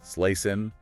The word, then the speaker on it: Slussen: It runs between Slussen, that's Slesen, Skepsolmen, Skeppsholmen, and Djurgården.